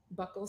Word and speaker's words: buccal: Ibarra's DNA, you first tried buccal swabs? Yes. Okay. I learned today that they're pronounced buccal, not buccal.